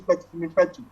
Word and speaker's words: Mefetu: Did I get the pronunciation correct? My name is Mefetu.